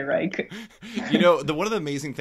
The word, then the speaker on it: Blumenreich: A lot of people are pronouncing it Blumenreich, Yeah. which is fine. I always say Reich. Oh. I just think it sounds nicer, but I think it's more correct to say Reich.